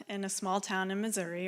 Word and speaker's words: Missouri: I grew up in a small town in Missouri, or as the locals say, Missouri.